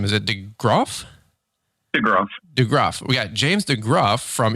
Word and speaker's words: DeGroff: DeGroff.